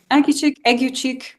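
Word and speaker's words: Aguecheek: Toby Belch, Sir Andrew Aguchik. Is that how you say it right? Aguchik? Agu cheek, yeah.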